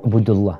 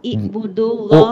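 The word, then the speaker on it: اعبدوا: I atau U? Ubudullah. Ibudullah. Bukan I. Jadi kalau huruf tengahnya itu dhamma, maka baca awalnya pakai dhamma. Kalau huruf tengahnya itu kasroh, maka dibacanya kasroh.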